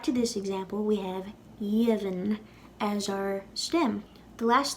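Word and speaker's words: dheimhin: When we lenite a D that comes before a slender vowel, like in this case, it'll sound like a Y. Y. Jevin will then turn to Yevin, and that'll be our lenited stem.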